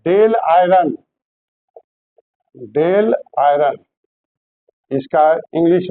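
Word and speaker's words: Dáil Éireann: आयरलैंड आयरलैंड की संसद का नाम है डेल आयरन।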